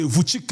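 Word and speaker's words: Vučić: C'est Voutique, je vois. C'est Voutic hein. C'est Voutic. On dit l' façon de prononcer le nom là.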